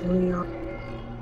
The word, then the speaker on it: Mojang: It's Mojang, but like, apparently, like, you're supposed to pronounce it as Mojang. Mostly Swedish people don't give a shit if you don't use like the Swedish pronunciation rules.